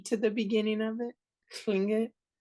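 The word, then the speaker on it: Tlingit: like on Clinket, like Klingit? Is it like, even though it's L, does it have a slight T to the beginning of it? Klingit? There isn't a slight T. It's more like a K.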